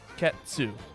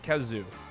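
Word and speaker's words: Khezu: a very Italian looking monster it would be pronounced ketsu not kazoo okay too that's how it works did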